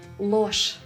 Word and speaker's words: ложь: Remember, zh and sh are never soft in Russian. So with or without a soft sign, zh at the end of a word will be pronounced as sh. Ложь.